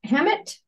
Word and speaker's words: Hammett: There's one page here that talks about, I think it's Hammett. Is that pronounced right, Martini?